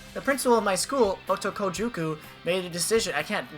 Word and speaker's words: Otokojuku: Otojuku. Something like that. I'm sure. Otokojuku.